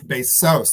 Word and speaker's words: Bezos: It's Bezos. There's an accent on the end.